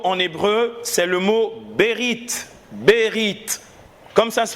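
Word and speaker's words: בְּרִית: est un mot en hébreu c'est le mot berit berit comme ça se prononce t un chat la fin août et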